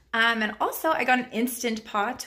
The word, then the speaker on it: Instant Pot: And also I got an Instant Pot, which I am calling Instapot. So I know I'm not saying it right, but it's just easier to say Instapot.